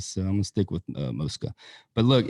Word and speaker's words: Mosca's: My whole life I have said Mosca's, and I've been 1,000 times and I've always called it Mosca's. But in my talks with Lisa Mosca, it's apparently Mosca. So hey, I'm gonna make sure we pronounce it right from now on. We're going with Mosca.